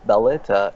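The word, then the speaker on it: Valletta: yeah balleta okay and I mispronounced it for the first day because he has two L's and I'm like well that's like like Spanish I that but no people were offended when I said that were they actually it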